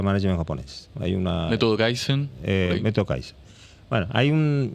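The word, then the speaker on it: kaizen: cómo será en chino pero en japonés se pronuncia kaisen en coreano se pronuncia keson y en chino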